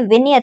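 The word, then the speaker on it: vignette: okay next we have we आई जी एन E double T ई इसे हम pronounce करते हैं विनियट से तो विनियट जो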